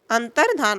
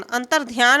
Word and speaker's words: अंतर्धान: सभी उसे सीख पाएंगे अंतर्धान हो जाएगा अंतर्धान अंतरध्यान नहीं अंतर्धान अमावस्या अमावस्या अमावस्या है